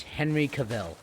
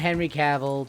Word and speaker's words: Henry Cavill: one this one everyone will really know it's Henry Cavill not Henry Cavl technically that is how it's spelled but his full like name how it's